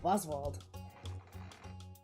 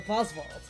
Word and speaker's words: Wozwald: Even the way I pronounce it, I pronounce it with a V instead of a W, even though it's still spelled the same exact way.